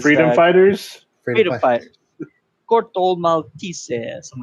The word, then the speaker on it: Corto Maltese: Well, the way that they did it with the Portuguese accent was Corto Maltese.